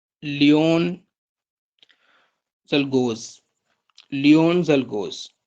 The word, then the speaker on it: Czolgosz: Assassinate करने वाले बंदे का नाम आप लिख लें, लियोन जलगोज। लियोन जलगोज, स्पेलिंग लिख लें, LEON, लियोन, CZOLGOSZ, लियोन जेलगोज।